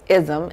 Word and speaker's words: Ism: It ism, as it's spelled, ISM.